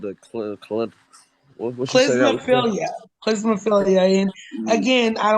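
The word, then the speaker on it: klismaphilia: But yeah, that is pronounced clismophilia.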